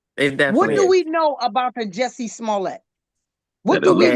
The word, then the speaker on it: Smollett: How you pronounce his Smollett.